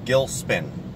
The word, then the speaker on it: Gilcspin: by the way, it's Gilcspin. The C is silent.